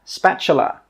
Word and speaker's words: spatula: This is a spatula. Spatula. Spatula. The T sound is actually pronounced as a CH sound.